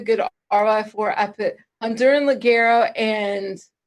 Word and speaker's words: Ligero: Well, there's Honduran Ligero. We went through this one day, pronouncing it correctly.